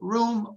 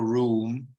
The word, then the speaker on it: room: And room can be pronounced either room or room. I personally pronounce it in a long way, room.